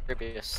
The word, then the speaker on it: Rabius: How do you pronounce the name actually? Rabius? Rabius, yeah. Yeah, he's the only one. That's how I always pronounce it anyway.